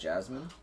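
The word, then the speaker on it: Jessamine: like jine why cuz I guess spelled that way it's pronounced Jasmine that we just mispronounced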